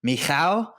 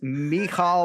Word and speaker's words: Michał: I believe the fighter you're speaking of is Michał Oleksiejczuk. So I have the pronunciation file.